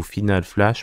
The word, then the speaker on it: Final Flash: Le Final Flash, ou Final Flash prononcé à la française.